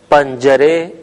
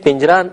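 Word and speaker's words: پنجره: اور یہ کھڑکی ہے۔ آپ نے دیکھا کہ میں نے اسے پنجرہ تلفظ نہیں کیا بلکہ پنجرے کہا ہے، تو آپ اس تلفظ کو ذہن میں رکھیں۔ ان معلم است آن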